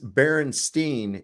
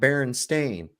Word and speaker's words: Berenstain: born if you have that and it says Berenstein and not Baron stain then you've got residue and you need to